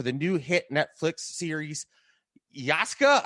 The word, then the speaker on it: Yasuke: new hit netflix series yasuka i don't think i'm pronouncing that right because oh you're pretty close it's it's yes k yes okay most people go like yes so you're actually closer than most yeah that's nice that's